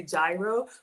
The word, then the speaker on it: gyro: I know some of us say gyro, but it's actually gyro, okay? It's a soft G or a silent G.